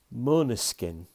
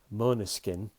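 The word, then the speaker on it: Måneskin: year's eurovision song contest mona skin you spell it m-a-n-e-s-k-i-n but there's an o over the a which makes it oh so it's mona skin and of course they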